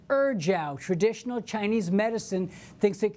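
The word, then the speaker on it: ejiao: E-J-I-A-O, pronounced Erjiao.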